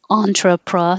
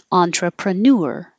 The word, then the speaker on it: entrepreneur: This one, you can say the ending two different ways. You can say newer, like this is newer than that one, or ner, which doesn't sound like anything. So entrepreneur stays the same, entrepreneur, or entrepreneur, either way.